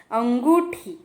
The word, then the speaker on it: अंगूठा: तो यहाँ पे भी हम देख पा रहे अ के ऊपर एक चंद्र बिंदु आता है, तो हम उसे उच्चारण करेंगे अंगूठा, अंगूठा, अंगूठा, थम।